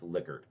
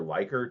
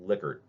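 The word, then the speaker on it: Likert: Um, and it is pronounced liquor. A lot of times you'll hear liyker, and there's not really anything wrong with this, but it's actually named after a person's last name.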